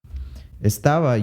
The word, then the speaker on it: estaba: ends in a vowel now words that exemplify this are you could say nuevo nuevo has a v in it but it uses the bilabial approximant another one would be estaba estaba uses that bilabial approximant however it has a b in it nuevo and estaba use